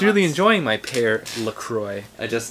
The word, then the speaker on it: LaCroix: a turn on this device the first thing Lacroix is correct you got consensus among the chatters at least alright it's pronounced placing goddamn Silent Hill good answer I'm